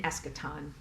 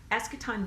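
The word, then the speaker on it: eschaton: things um the the expectation of um an escaton the s e so I spell it e s c h a t o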